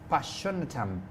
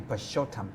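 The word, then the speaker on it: Purshottam: Passionatum. Wow. Sorry, I'm trying to pronounce it well. Yeah, it's actually Pashotam.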